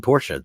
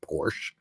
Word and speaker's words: Porsche: mean that's a one Ferdinand porsa that's the guy's name it wasn't Ferdinand Porsche you know look at